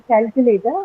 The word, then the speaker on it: calculator: so I say that in the word calculator uh which one is first yeah the first syllable right so calculator I would say that the first syllable huh first syllable is the one that is stressed.